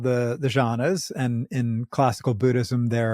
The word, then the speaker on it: Jhana: jhana, or is it jhana? Jhana, how do you say it, Daniel? So there's jhanas, Jhana, or if you're being Sanskrit about it, dhyana, Dyana. And so jhana is the Pali.